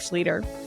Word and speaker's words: Schlueter: but there's now an easy way to remember my name. It rhymes with Peter. Could have been a Peter Schlueter. Great so, story. Seth Schlueter.